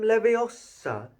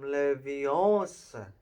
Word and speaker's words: Leviosa: next table wasn't having much more luck wingardium leviosa he shouted waving his long arm like a windmill you're saying it wrong hey hurt hermione snapped it's when goddamn leviosa make the guard nice and long you do